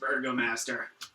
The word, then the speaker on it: Burgomaster: I think perhaps we should, more than anything, be finding the Burgermeister. But I think it's pronounced Burgomaster. I prefer Burgermeister.